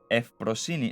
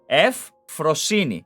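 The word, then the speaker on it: Euphrosyne: Euphrosine. No, Euphrosine. Euphrosine. This this F is not being pronounced.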